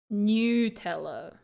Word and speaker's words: Nutella: The makers of Deutsche Nutella ist say Nutella. New, like Nutella. Yeah, new, like new clothes or new like newt.